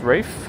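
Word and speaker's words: Ralph Fiennes: Ralph Fines is pronounced Rafe.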